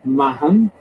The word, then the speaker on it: Mahon: My third great grandparents, Martin Mahon, and she insists that her grandmother insisted it was spelled M-A-H-O-N. She's absolutely right. That's exactly how it's spelled. It's not maybe pronounced M-A-H-A-N, but it's spelled M-A-H-O-N.